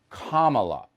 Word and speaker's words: Kamala: supporters despise kamala harris that's how you say her name kamala like comma all right you can just